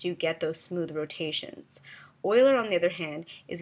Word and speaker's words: Euler: So there are 2 types of rotation as well, Quaternion and Euler. It looks like it's Euler, but I've been told it's pronounced Euler.